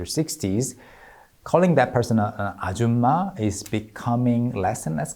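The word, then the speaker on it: 아줌마: But Nakia's pronunciation of the word ajuma sounded a bit more like auma instead of auma, missing the last consonant in the second syllable.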